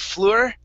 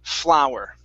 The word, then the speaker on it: flour: Instead of fleur, it's flour. Okay, flour. Like a flower? Or? Yep, just like the flour. It's pronounced exactly the same.